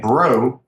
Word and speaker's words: Braud: So is spelled like, and Braud is spelled like Braud, Braud, good French name.